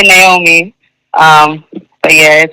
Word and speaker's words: Naomi: I I usually usually say Naomi. Um but yeah, it's pronounced Naomi. Naomi.